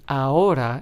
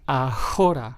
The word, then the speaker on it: ahora: Notice how this word doesn't start with the letter H, but we still make the H silent. It is pronounced as ahora and not ahora, right? So, remember, the letter H is always silent in Spanish when pronouncing it in words.